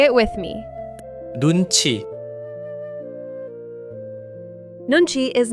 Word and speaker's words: 눈치: What is Nunchi? Nunchi, 2 syllables. 눈. Nun. The eye. 치. Chi, a measure.